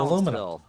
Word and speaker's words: aluminum: a it's orinal because in Europe they call it aluminium aluminium in North America we call it aluminum aluminum yeah in UK it's